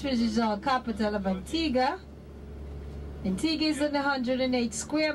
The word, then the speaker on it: Antigua: Hello, we're in Antigua, and even though it's spelled Antigua, it's pronounced Antigua.